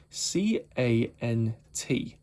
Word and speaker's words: cant: It's CANT, but when you sort of spell it, it can sound like a rude word, so it's called the cant line.